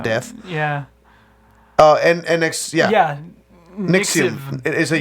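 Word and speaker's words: NXIVM: Nixium. It is a U. Nixium. Oh, it is a U? Yeah, Nixium.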